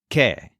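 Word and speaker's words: qué: over the letter e that accent mark doesn't change how it's pronounced it sounds exactly like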